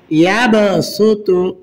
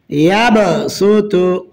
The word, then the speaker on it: يبسط: را خراجر ري، مجريها، يبسط، يبسط، ইয়াবসুতু বাসতান। এখানে ইয়াবসুতু সদের উপরে সিন আছে, সিনের উচ্চারণ হবে সিন পেশ সু, ত পেশ তু, ইয়াবসুতু।